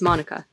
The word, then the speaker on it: manuka: Although I pronounce it manuka, the local and more correct pronunciation is manuka.